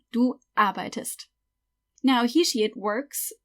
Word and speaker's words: arbeitest: You have to add st, but that would make it du arbeitst. So, obviously that doesn't work, you can't pronounce it, arbeitst. So, we'll just add an E. Du arbeitest.